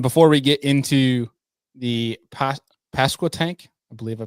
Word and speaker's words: Pasquotank: Um, and before we get into the Pas Pasco tank, I believe I pronounced that correctly. How do you say this thing? I've been thinking about this all day. It's past a tank.